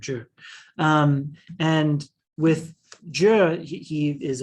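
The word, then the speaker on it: Jie: That's how you pronounce his name, Zhe.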